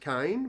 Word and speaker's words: Kane: He's actually not called Ken. That's his nickname because he pronounces his actually real name's Kane, but he pronounces it Kane. But everyone hears Ken because he's a Kiwi.